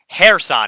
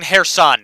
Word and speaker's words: Kherson: The K is silent. Kherson. Yeah, so I got that right with Kharkiv. I got to work on Kherson now. Got to work on Kherson.